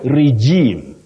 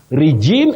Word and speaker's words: regime: Many people say regime. Regime is very common, but you say regime, regime. Oh, and regime.